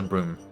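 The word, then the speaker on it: Brume: It's like broom like you know the thing you used to sweep. Exact same pronunciation.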